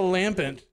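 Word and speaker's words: Lampent: Okay, how about a lampant?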